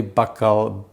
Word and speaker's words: bacalhau: Bacalhau is how they pronounce it in Portuguese, something like that.